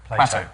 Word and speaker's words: Plateau: he discovered it so he goes plateau no not platinum not plankton oh sorry not plato we thought you'd mispronounce